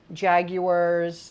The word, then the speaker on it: Jaguar: be very careful because these are jaguars that's the way they pronounce it Jaguars Jaguar really jaguar and then they were